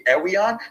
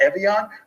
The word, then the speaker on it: Evian: So when I tell you it should be Ewian, not Evian, I think you should take my advice.